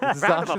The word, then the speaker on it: Zacian: Zacian and Zamazenta, Pokemon-themed Switch here.